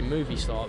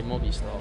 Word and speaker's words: Movistar: So the British say movie star, but there's no E, so they say Movi Star.